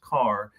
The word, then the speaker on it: Carr: sophomore Marcus Carr and it is pronounced Carr I'm not Kerr but um he had